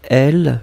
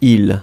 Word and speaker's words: il: J'avais vu un L, je ne sais pas qui. Ouais. Mounsif Agdiou. Attention, c'est pas L, mais c'est vraiment il.